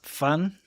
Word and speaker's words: 饭: Fun means rice in Chinese, if you didn't catch that. But it's spelled fan.